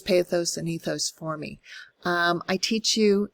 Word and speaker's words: ethos: rhetoric, his famous logos, ethos, and pathos. I choose the American pronunciation of that because I don't speak Greek. I think it would be logos, pathos, ethos. But tomato, tomato, right?